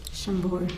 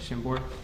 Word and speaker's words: Chambord: Chambord. Chambord.